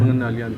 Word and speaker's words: Pengendalian: How do you say that? Pengendalian Pikiran? Pengendalian. Almost. Anybody expertly can always control their mind?